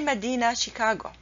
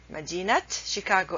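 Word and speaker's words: مدينة شيكاغو: proper name madinat Chicago I don't say Medina Chicago you never say Medina Chicago this is a wrong way to pronounce it Magina Chicago is the right way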